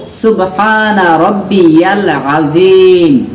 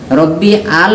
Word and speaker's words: সুবহানা রব্বিয়াল আযীম: আর রুকুতে বলবো সুবহানা রব্বিয়াল আযীম, রব্বি আল বললে ভুল হয়ে গেল।